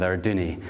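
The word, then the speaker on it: Arduaine: Brodach, Inverewe, and we're going to end with Arduni, and that's how you pronounce it. When I first went to Arduni, most people, like the lady that introduced me, sorry, you say Ardwain, and everybody does it.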